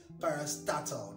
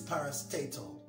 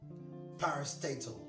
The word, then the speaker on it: parastatal: some political power parastatal i've heard the word pronounced as parastatal no it's parastatal parastatal the intention of the government is for all